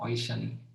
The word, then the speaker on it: Aishani: That A is silent or it's just Ishani? अच्छा, okay, Bengali है तो Aishani.